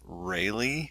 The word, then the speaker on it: Rayleigh: If you want to do that, look up Rayleigh on Wikipedia. That is spelled R-A-Y-L-E-I-G-H, the Rayleigh effect.